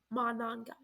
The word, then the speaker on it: Monangai: is really good is that running back Kyle Monangai, or is that how you say his name? Oh my god, I feel so dumb. Kyle Monangai. Kyle Monangai. That's his name. Got it. Monangai.